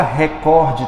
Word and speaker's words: recorde: é horri normandi coloca recorde também aí gente paroxítona viu recorde que eu tô cansado de ouvir o William Bonner dizendo Jornal Nacional meu Deus é recorde gente Eu até fui pesquisar porque eu pensei que eu tava errado recorde ela é paroxítona porque o Bonner falando